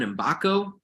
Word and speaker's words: Mgbako: It's Mgbako, right? You say it a million times. I've heard a lot of different pronunciations. According to the man himself, it's Mgbako.